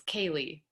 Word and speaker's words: Kaeley: I'm sorry, your name is pronounced Kayleen, right? It's Kaeley. Kaylee. Okay, Yeah.